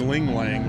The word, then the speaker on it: LiuGong: I don't know how do you pronounce that. I have no idea. Liugong.